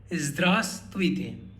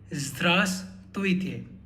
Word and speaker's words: Здравствуйте: Здравствуйте. You would notice in the spelling we have a V after A, but that V is silent. Hence we say Здравствуйте.